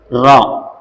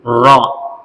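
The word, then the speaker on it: ر: கீழ இறக்கி இருக்காங்க சரிங்களா இப்பதான் உச்சரிக்கணும் ரா புரியுதா நல்லா ரா அப்படிங்கிற வார்த்தையை இந்த நாக்க மேல வரைக்கும் கொண்டு போகணும் பல்லு இந்தா இருக்கு இந்த நாக்க மேல வரைக்கும் மேல் எகிற வரைக்கும் கொண்டு போயிட்டு உச்சரிச்சா கரெக்டா இருக்கும் ரா அவ்வளவுதான் நம்ம எல்லாத்தையும் கொஞ்சம்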